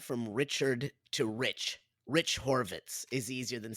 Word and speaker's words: Horvitz: Rich Horvitz is easier than saying Richard Horvitz.